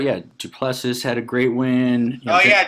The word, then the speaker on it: du Plessis: Duplessis had a great win. Duplessis.